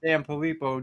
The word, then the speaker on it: Sanfilippo: you had that post where you told us all that he had Sanfilippo disease. If I'm saying it right, is that Yep, Sanfilippo?